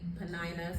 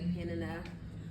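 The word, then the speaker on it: Peninnah: years I some people say Panina some people say Penina um either way you're not wrong as long as we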